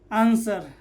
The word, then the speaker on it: answer: पहला नियम क्या, एस के बाद W आए तो W साइलेंट होता है। ठीक है, एस के बाद अगर W आए तो W क्या हो जाता है, साइलेंट। जैसे ANSWER आंसर।